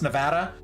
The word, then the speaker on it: Nevada: to say the name most Californians know how to pronounce Nevada everyone else turns British when they try to pronounce my state it's one of my biggest pet peeves I'm not going to lie unironically big pet peeve Nevada I'm like why are you British all of a sudden hello they're like